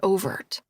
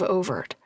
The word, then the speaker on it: Overt: Little town called Overt. Come again? It's French for green water. We pronounce it over. Accent on the O.